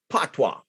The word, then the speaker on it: patois: So I'm saying, so somebody in France called, say patois. It's spelled P-A-T-O-I-S. I would have spelled it P-A-T-W-A.